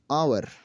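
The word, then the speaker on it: hour: इसी तरीके से देखा जाए हमारे पास रूल नंबर 8 है, अगर किसी लफ्ज़ में एच के बाद यू ओ यू आता है तो एच हमेशा साइलेंट हो जाता है।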